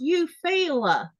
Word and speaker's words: Eufaula: And then Melissa says it's actually pronounced Eufaula.